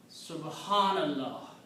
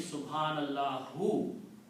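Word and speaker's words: سبحان الله: So when you say Subhanallahu, you are stopping. When you're stopping, you don't pronounce this last letter, Dhamma. So you pronounce Subhanallah.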